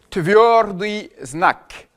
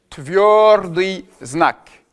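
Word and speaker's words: твёрдый знак: C'est ce qu'on appelle le signe dur qui s'appelle en russe tordi znac. Tord znac. Znac, c'est le signe en russe.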